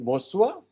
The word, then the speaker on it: bonsoir: They say either bonjour, evening bonsoir, and while departing, Yes, sir.